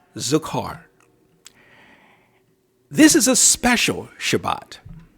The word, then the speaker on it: Zachor: honor to the Jewish observance known as Shabbat zakar Shabbat zakar spelled Z is in zebra a C is in Charlie h o r it's pronounced zukar this is a special Shabbat it's special for